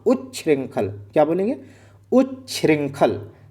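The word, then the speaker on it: उच्छृंखल: उ्रंखल और ऐसे ही बोलना उंखल मत बोलना। उ्रंखल क्या बोलेंगे?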